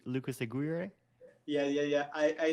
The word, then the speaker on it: Lucas Aguirre: your name again i keep i'm it's like lucas aguirre yeah yeah yeah i i notice uh some